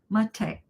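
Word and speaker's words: Matej: Sound like mate. Mate, Slovenia. Very close to Italy.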